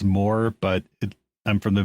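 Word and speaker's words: Mooer: supposed to be pronounced more but it I'm from the Midwest and it's spelled m o o e r yeah so of course it's Mo um but they've made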